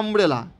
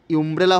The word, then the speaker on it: umbrella: ইউ দিয়েও শুরুতে থাকতে পারে, যেমনি ইউনিভার্সিটি, ইউ দিয়ে লেটার থাকলেই ইউ উচ্চারণ হবে এমনটিও নয়, যেমনি আমব্রেলা, আমব্রেলা তো ইউ আছে, UMBRELLA, ইউমব্রেলা হচ্ছে না, আমব্রেলা।